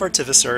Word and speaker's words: artificer: So I have to laugh though because everyone's pronouncing artificer differently. But so with the chief artificer, and trust me, that is actually how it's pronounced.